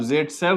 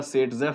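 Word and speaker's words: Zaitsev: अब ज़ेटसेव बोलो या सेटजेफ बोलो, एक ही बात है। ज़ेटसेव सेटजेफ एक ही बात है, रशियन नाम है, उसकी ट्रांसलेशन में दोनों स्पेलिंग सही है।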